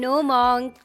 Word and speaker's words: monk: No monk. The right way to say this word is monk.